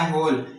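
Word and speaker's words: whole: यहां पे एच से पहले आया होल यहां पे भी साइलेंट है।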